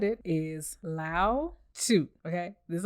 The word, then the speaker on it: Lao Tzu: L-A-O. I know that's correct because I know Laos, Laotian. Lao, T-Z-U. Tzu. Some people said Chu. Some people said Tu. Some people said Tzu. It's one of them.